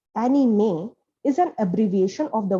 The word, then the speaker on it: anime: the disney title track the word anime pronounced as annie may is an abbreviation of